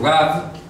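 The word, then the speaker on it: רב: abundante, Rav, en hebreo, se escribe así, se pronuncia así, Rav. Esa palabra también significa Señor, ¿ya? Y aparece en un salmo, creo que es el Salmo 48, dice, Kiryat Melech Rav, es la ciudad del gran rey, es decir,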